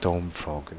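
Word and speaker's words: Stormphrog: And also Storm, I think it's pronounced Stormfrog, isn't it? P-H-R-O-G.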